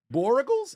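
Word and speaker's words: Borregales: My opponents, Jason Myers, JSN, Kenneth Walker, Andy, Borregals is how you pronounce the kicker's name.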